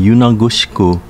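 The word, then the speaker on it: Yonashiro: with the merger of gushikawa ishikawa katsurang and yonogusuku pronounced gushicha ishicha kaching and yunangoshiku respectively in uchinanguchi it is the only city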